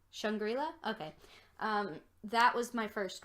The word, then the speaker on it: Shangri-La: so the that music video how do you pronounce it shangri-la shangri-la okay that was my first one too because